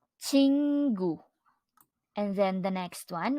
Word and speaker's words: 친구: our object noun friend which in Korean is pronounced as chingu chingu and then the next one we have here